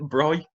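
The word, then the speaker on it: braai: Bry. yeah. Yes, good. Your barbecue. Oh. Yeah, yeah. We, Yeah, we just call it barbecue or BBQ if we're being yeah, lazy. But Bry at the beach or Bry in the bush.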